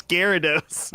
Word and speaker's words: Gyarados: It's Gyarados. I've never heard it said. It sounds like you spelled it right, but it's definitely Gyarados.